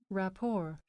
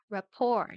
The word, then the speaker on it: rapport: นิด นึง นะ คะ ก็ คือ มัน จะ เป็น silent T นะ คะ ไม่ ออก เสียง ตัว T น่น นั่น เอง จะ เป็น Report Report rapport rapport นะ คะ แล้ว ก็ stress ที่ พยางค์ ที่ 2 นะ คะ โอเค อ่ะ ถัด